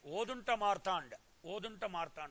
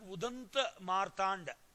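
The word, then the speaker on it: उदन्त मार्तण्ड: Then Hindi Weekly, Odunta Martand also was started. See, Odanta, see here, this is written in Bengali. Actually, it should be pronounced Udanta Martand.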